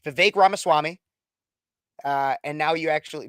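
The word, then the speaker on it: Vivek Ramaswamy: didn't know who he was most people cannot pronounce his name a lot of people still can't but it's V ramaswami uh and now you actually now most a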